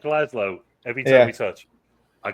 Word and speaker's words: Glasgow: It's not Glasgow. That is. He said he added a syllable to that. He said Galaz. I'm a stupid, uncultured American. Forgive me. Never say Glasgow. It's Glasgow. Glasgow. Glasgow. Glasgow. As in, just go. Glasgow.